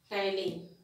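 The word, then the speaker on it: ptyalin: is known as amylase tylin. P is silent, please remember that here.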